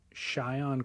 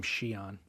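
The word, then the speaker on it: Shion: Cheyion Crawford or I think they pronounce his name Shiion. Shian Crawford at Backdoor just I think on the 31st or something last day of the month.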